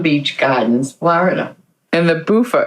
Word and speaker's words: Bufo: And the Bufo, it's Bufo. Is that what you're saying? It's Bufo. How do you spell that?